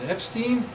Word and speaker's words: Epstein: This guy whose name rhymes with Einstein is Epstein, Lewis Carroll Epstein.